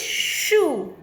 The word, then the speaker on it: shoe: Rhyming word is shoe. Here E is silent.